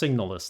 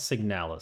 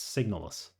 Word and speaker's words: SIGNALIS: find out we shall find out and it's pronounced signis not signal signal sounds like a a drug they advertise on TV it's signis I slip up and call it signal that's